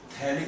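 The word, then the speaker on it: phthalic: ये है आपका थैलिक एनहाइड्राइड, ये साइलेंट है, थैलिक एनहाइड्राइड बोलते हैं इसको।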